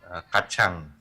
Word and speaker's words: kacang: So you pronounce C as cha, no? Yes. Like Aceh. Okay. Yeah. Yeah, like kacang.